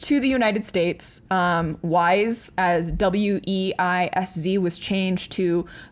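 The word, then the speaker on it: Weisz: to look this up I think it's Eric wise okay it's spelled very strange it's spelled e-h-r-i-c-h-e-h-r-i-c-h Eric yeah that sounds right yeah and then wise is w-e-i-s-z w e i yeah okay so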